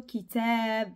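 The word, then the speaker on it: كِتَاب: a d'autres par exemple l'entend Kitab il est un petit peu long Kitab AB AB alors AB c'est comme si on a a deux fois et ça on va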